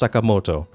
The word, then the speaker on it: Sakamoto: It's obviously pronounced Sakamoto. I really don't know how stuff like this happens. That's like pronouncing Hiroshima as Hiroshima, or Ontario as Ontario, or America as America.